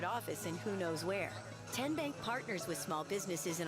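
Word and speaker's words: TN Bank: How do you say the name Ten Bank? Nope. Tin Bank. Uh-uh. So, what is it? Tenbank. 10 as in Tennessee.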